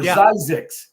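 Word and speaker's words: Zzyzx: exit and you know this John ZX or zix as the way it's actually pronounce I love that ZZ yzx I shared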